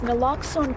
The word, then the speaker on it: naloxone: how you say it naloxone yes it's it's naloxone can literally save a life as as susan